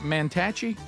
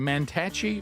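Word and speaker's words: Mantachie: Is it Is it Manache? Well, you said it wrong the other day. I know, but I got correct. Manache, Mississippi. It's northeast of Tupelo.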